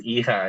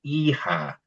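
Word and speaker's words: hija: is the e then since the h is silent then this word starts with the e sound that's why it's e-ha right yeah good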